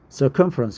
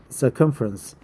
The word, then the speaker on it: circumference: Circumference. I think it's circumference, but let's find out the exact pronunciation. I majored mechanical engineering, so circumference. Cum has the accent, right?